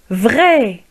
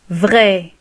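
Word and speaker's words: vraie: نقول vrai بالنسبة للمذكر، والمؤنث نضيف e تصبح vrai avec e à la fin، لكن في النطق لا يتغير. vrai, vrai, vrai.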